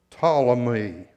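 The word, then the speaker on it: Ptolemies: Now, if you're going to say it out loud, the P is silent. It's pronounced tamey.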